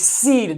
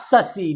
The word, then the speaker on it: cede: So I also it's seed, not secede. You don't secede your time. The south seceded.